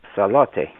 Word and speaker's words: Salote: the name the family name salote which is their Tongan pronunciation Charlotte so you can see